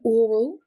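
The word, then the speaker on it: aural: Next one oral with an a and a u. Now this is relating to the ear or sense of of hearing. So for example in a legal setting the witness provided an oral account of the events leading up to the accident during the court hearing. Same pronunciation for oral with an O.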